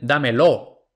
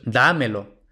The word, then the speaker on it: dámelo: Los pronombres enclíticos no se tildan aunque muchos nativos los pronuncian tónicos. Esto es incorrecto. Por ejemplo, muchos nativos dicen dámelo. No, esto es dámelo. Muchos nativos dicen cómpramelo. Esto no es cómpramelo, esto es cómpramelo.